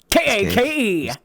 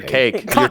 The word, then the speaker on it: KAKE: sent to you uh how do you say that k-a-k-e cake it's kake or cake if you're a weeb it's cocky another cereal box was left